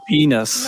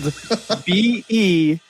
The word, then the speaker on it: Beanus: To make Venus. No. But it's spelled Beanus.